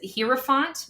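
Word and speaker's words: Hierophant: I I always typically pronounce it hi font because the iie e I always think of it like a German word.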